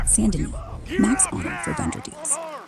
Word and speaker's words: Saint Denis: Goob streaming, Chapter 6, Saint Denis, pronounced Saint Denis.